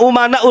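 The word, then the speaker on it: أمناء: bin smit Al ulama umanaur Rasul Tapi bacanya Al ulama amanaur Rasul saya katakan salah kenapa Karena di sini umana jamaah taksir ya para ulama itu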